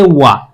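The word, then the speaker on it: は: কিন্তু যখন আমরা গামারে আসব, এটা হা হবে না, এটার উচ্চারণ হবে ওয়া।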